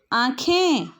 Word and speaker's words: आँखें: और जब हम इसका उच्चारण करेंगे तो क्या कहेंगे? आ, ख में ए की मात्रा, ऊपर अनुस्वार। तो इसे क्या पढ़ते हैं? आँखें।